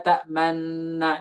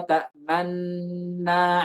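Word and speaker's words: تأمنا: sukunkan, asalnya adalah dhammah, maka kita berikan isyarat dengan kedua bibir. Jadi kita baca malaka la ta'manna ala Yusuf. Ta'manna, seperti itu. Man, berhenti sebentar, man, majukan, kembalikan, na, seperti itu.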